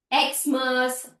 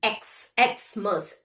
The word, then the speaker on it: Xmas: wxyz correct x sound whenever it is followed by the hyphen you need to read it with its letter name xmas xray Okay.